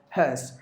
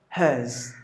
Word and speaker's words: hearse: the vehicle that carries dead body is called hearse. Dead bodies are carried through hearse. That's how you have to pronounce. But when it comes to American pronunciation, it is the letter R is pronounced.